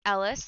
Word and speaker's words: ELHS: talking about ellis um it's pronounced ellis like ellis gray if you watch grey's